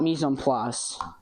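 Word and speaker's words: mise en place: So, I I call it mison plus rhymes with grug. Misum plas just things in place.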